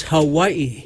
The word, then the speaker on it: Hawaii: It's Hawaii.